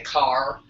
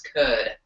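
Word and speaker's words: Kaur: means lion um and could is spelled k a you are pronounced all different kinds of ways sometimes people say car some people say K I try to pronounce it as accurately to the actual language as a can and I believe that's could so you pronounce the r with a little bit of a d so today we just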